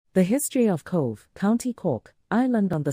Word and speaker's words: Cobh: the history of Cove County Cork Island on the southern coast of